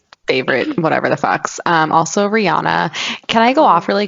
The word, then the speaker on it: Rihanna: Also, Rihanna. Can I go off really quick? I don't know if we Yeah. talked about this in our Illuminati episode, but Rihanna's name is not Rihanna, it's Rihanna.